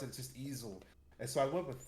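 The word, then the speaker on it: Ezal: you looked at it it's more of like and I'm like that's not how I pronounce it just easel and so I went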